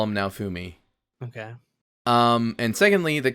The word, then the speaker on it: Naofumi: actually important pieces of information his name is now fumi the protagonist his name is now fumi is pronounced but i know it's i was calling